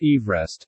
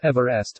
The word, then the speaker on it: Everest: therefore should be pronounced Everest, not Everest, as per the pronunciation of the British surveyor's surname.